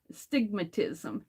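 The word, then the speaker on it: astigmatism: And so I came home and I had to look up stigmatism, which starts with an A. The A is silent. Stigmatism.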